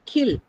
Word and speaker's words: kill: Skill, no aspiration. Kill, aspiration is available for ka.